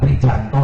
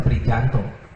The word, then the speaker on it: Prijanto: gubernur dkiow sama siapa pranto ya bukan pranto nulisnya prijanto bacanya sesuai dengan apa yang diajarkan saja kalau yang begitu tu